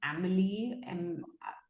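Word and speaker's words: Amélie: So many people are saying that they've watched Emil. Yeah. Okay. Great. Great. So it's actually pronounced as Amily.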